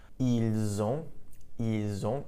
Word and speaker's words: ils ont: Ils ont, and notice here we have the liaison, we have a link. So we have ils ont, notice the pronunciation, the S actually does get pronounced this time.